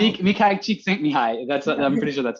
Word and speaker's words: Mihai Csikszentmihalyi: I know he's so hard to pronounce. Mihai Csikszentmihalyi.